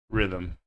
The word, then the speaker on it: rhythm: So we have air, honor, hour, ghost, what, when, where, why, while, weather, white, rhythm. So these are silent H.